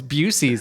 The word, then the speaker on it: Buc-ee's: How do you pronounce it? Buc-ee's? Oh, Oh. it's Busey's.